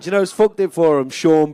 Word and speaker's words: Sean: what's your name mate sean spell it s-e-a-n you called scene norm norm called sean all right mate let's